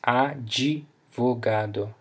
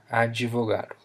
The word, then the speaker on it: advogado: So for example, we can have advogado, so here we pronounce advogado, advogado, like jelly, advogado, which means lawyer.